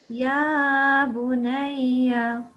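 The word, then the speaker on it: يا بنيّ: يا بني Yeah, but you have to pronounce it slightly more because there's still the shadda is still there.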